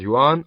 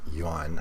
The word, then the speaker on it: yuan: spend over ten thousand yuan on a bag okay two things the guy reading this is probably Chinese so why he pronounces the currency as Yan I don't know the